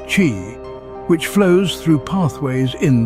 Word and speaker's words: qi: This is believed to balance the flow of energy or life force, known as qi, pronounced qi, which flows through pathways in the body.